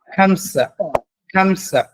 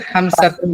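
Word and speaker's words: خمسة: আরবা আরবা মানে চার খামসা এখানে তুন আছে খামসা তুন বলা লাগবে না খামসা বললে হবে খামসা ফাইভ খামসা ফাইভ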